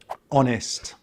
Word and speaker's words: honest: who who usually words that start with a silent H are French borrowed words such as honest honest our our honor honor. As these words begin with a vowel sound, we have to use the indefinite article an an.